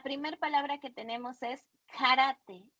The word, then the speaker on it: karate: La primera palabra que tenemos es karate. Karate se pronuncia igual que en el español, solo hay karate, ¿ok?